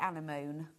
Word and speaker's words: anemone: The only way I can remember how to pronounce it is to say anemone, and then you get the M's and the N's in the right way.